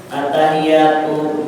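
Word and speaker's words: التحياتُ: Siapa banyak tasahiyatanya attahiyatu ini qurannya nih attahiyat bacanya attahiyatu attahiyatul mubarakatus almubarakatu salawat tas orang assalamualaik asalamualaika tasdidnya tasdidam Asalamualaika ayuhan warahmatullahi wabarakatuh.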